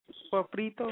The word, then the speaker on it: sofrito: Sofrito?